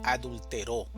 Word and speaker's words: adulteró: Entonces, el significado es diferente cuando hablamos de adúltero, adultero y adulteró.